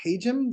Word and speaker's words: Hajim: heard me say uh the engineering school is pronounced haum the haum school uh the school was named